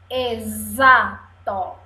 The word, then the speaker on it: exato: z Zé exército aqui exato exato você fala o som de z mas escreve o X ok é exato três